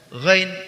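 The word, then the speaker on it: غ: Huruf gha dikeluarkan dari pangkal tenggorokan seperti kita mengeluarkan huruf kha, tapi nafas tidak dialirkan ketika huruf ghain diucapkan.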